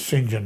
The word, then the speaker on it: St. John: John, but he says it's St. John, rhymes with engine.